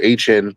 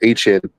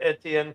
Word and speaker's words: Etienne: this year, like, and they got ATNs or HN, that's how you say his name now. He made it clear, HN, right?